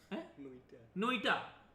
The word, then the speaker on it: NOITA: अच्छा, नोइटा स्पेलिंग क्या है?